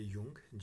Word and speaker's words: Jung: School के, और Adler, जुंग लिखते हैं JUNG, बट पढ़ते हैं युंग, जे जो है वो साइलेंट होता है.